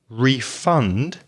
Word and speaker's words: refund: if they agree they refund your money stress the second syllable they said they'll refund